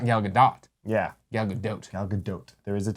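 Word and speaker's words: Gal Gadot: the video there's a YouTube video how to pronounce gal gdot's name galot 45 seconds of her saying galado doe galot galot galot from a bunch of interviews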